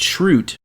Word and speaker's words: Schrute: about how his name their last name is pronounced like it used to be pronounced like shrug or something like that or because it's schrute right right but i